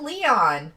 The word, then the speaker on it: Leon: Devil Ray says, it's pronounced Leon.